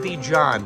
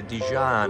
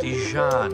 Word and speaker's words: Dijon: It's like mustard. Say it. It's like not Dijon like that. You say Dijon. It flows. Dijon like mustard. It flows. Perfect.